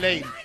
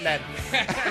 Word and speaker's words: Leen: And it's Leen, not Len. Leen.